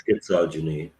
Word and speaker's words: Schizogeny: how to pronounce that i believe it's schizogeny yeah it sounds better right it's misogyny uh modern scholarly investigative